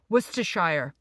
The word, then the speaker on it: Worcestershire: butter and, let me see if I can pronounce it, Worcestershire sauce.